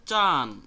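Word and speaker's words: ちゃん: জনাব বা বেগম জনাব বা বেগম এরপরেরটা হচ্ছে চান কথাটা উচ্চারণ হবে চি এরপরে ইয়া এরপরে উন অর্থাৎ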